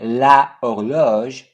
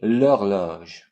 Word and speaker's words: horloge: Instead of saying la horloge, we say l'horloge.